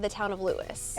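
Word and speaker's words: Lewes: said the town of Lewis. Everybody said the town of Louis, which is spelled L E Wes. They got really upset if people call it LSE. Yes. So don't call LSE. It's Lewis.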